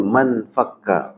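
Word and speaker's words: ما انفكّ: Mazala, ma bariha, ma infakka. Jadi bacanya manfakka. Kalau bacanya manfakka. Nah, aslinya infakka. Cuman karena dia hamzahnya hamzah wasol di tengah, maka hamzah wasol itu ketika di tengah nggak dibaca.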